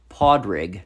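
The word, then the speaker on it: Pádraig: Hedrig is actually an Irish name pronounced... Podrig.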